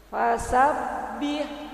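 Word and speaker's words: فسبّح: Bu ya nah oke fasabbih nah itu ha tipis Bu fasabbih Jangan fasabbih bukan begitu fasabbi karena H tipis H kecil Ah ya Bu ya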